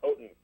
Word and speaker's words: Ottens: The Dutch gentleman, Lou Ottens, or Otens, however you want to pronounce the name, created something that helped the music industry in 1963.